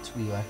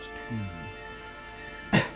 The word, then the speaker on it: Twi'lek: She's a Jedi Consular Twi'lek, or Twi'lek if you prefer, being the military pronounced I, because there are no consonants after it to clip it. So, Twi'lek, not Twee.